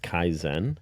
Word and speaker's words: kaizen: It's pronounced kaizen and it means personal growth.